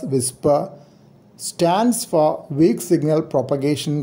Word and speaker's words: WSPR: power of 10 dbm wspr is pronounced as whisper stands for weak signal